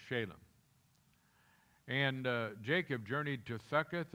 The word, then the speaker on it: Shalem: it for you but that's actually pronounced shalem and jacob journeyed to